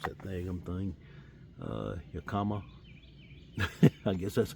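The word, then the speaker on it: Yakima: Uh Yakama. I guess that's how you pronounce it.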